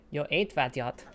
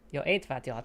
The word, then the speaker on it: Jó étvágyat: Jó étvágyat. Perfect. Jó étvágyat. Again, it's just the emphasis is weird. Yeah. Jó étvágyat. Jó étvágyat. But the pronunciation is like almost pitch perfect.